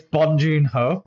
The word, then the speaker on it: Bong Joon-ho: It's Bong Joon-ho.